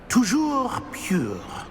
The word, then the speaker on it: Toujours pur: I order you to pronounce it for me. Oh, Master knows that Scrope's French is most pitiful. Very well. Toujours pure.